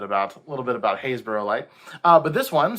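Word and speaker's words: Happisburgh: uh mentioned something called haysborough light which doesn't look at all how it's spelled it's actually spelled h-a-p-b-i-s-b-u-r-g-h it's a happisberg but it's pronounced hayesboro um and hayesbro is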